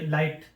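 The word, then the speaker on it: light: ये वर्ड के बाद में अगर जी एच आता है तो ये जी एच साइलेंट हो जाता है। जैसे लाइट हो गया। लाइट के बाद में आई डालते हैं। आई जी एच टी लाइट में लाइट। जी एच की साउंड नहीं आती है।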